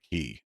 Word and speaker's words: qi: The ancient Chinese, they talk about key and that's spelled QI.